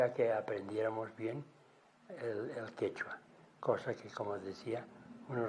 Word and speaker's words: quechua: Por eso aquí se llama quechua, porque aquí se pronuncia quechua. En cambio, en Ecuador no tienen la Q esa, y por lo tanto dicen quichua.